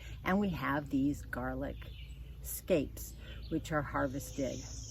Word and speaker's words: scapes: We're going to harvest scapes or snapes or snakes or however you want to pronounce it. It's really scapes.